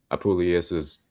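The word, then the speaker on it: Apuleius: This portion of the story is literary reference to Apulius's the metamorphosis or golden s a classic work studied in mystery school such as Freemasonry.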